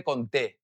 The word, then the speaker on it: conté: you, okay, is that you have a little accent on top of the E. What does this mean? This means that you want to stress that syllable a little bit more, okay? Que no te conté, right? You want to give it a little bit more pronunciation.